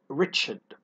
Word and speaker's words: wretched: He felt wretched. The letter W here is silent.